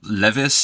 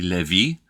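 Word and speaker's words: Lévis: it's not great either Levis is actually Levy and that's just the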